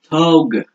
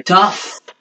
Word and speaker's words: tough: C'est un tough. GH. GH, c'est. C'est un F, en fait. GH, ça se prononce F.